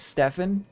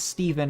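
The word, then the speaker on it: Stephen: but growing up I'd always have read that as stepen and I knew a guy growing up that pronounced his name as Steven and it was spelled like that that's crazy H and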